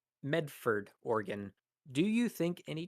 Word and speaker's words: Medford: So here we have Adam the Great again clarifying from an earlier super chat that it's Medford. So perhaps I mispronounced it or said Melford or something. Medford, Oregon.